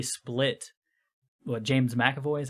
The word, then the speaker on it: McAvoy: Because I mean, with say Split, James McAvoy is how you say his name? Yeah, McAvoy.